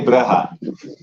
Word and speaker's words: Brugge: Oh, yeah, we say Brugge. You say Brugge? Yeah. It's like moeder.